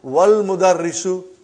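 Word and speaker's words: والمدرس: Then we will say, wal mudarrisu. Wal mudarrisu, you did not pronounce Hamza. Okay? Because it's Hamzatul Wasal.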